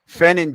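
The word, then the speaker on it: Fannin: How Fenon Jr., that's how you say his name.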